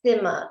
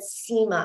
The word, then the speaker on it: Sima: in Zoom land um my name is pronounced stima with a short high unlike declan's version which he said SEMA I want you to forget SEMA which is a popular